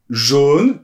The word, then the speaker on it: jaune: pas trop ça non moi je dis jaune plutôt fermé hein c'est la norme mais là vraiment j'aimerais